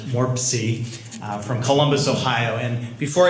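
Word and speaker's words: MORPC: well good afternoon I'm I'm the executive director of the Mid Ohio Regional Planning Commission our acronym is pronounced warp sea from Columbus Ohio and before I get started I want to thank my colleague dr.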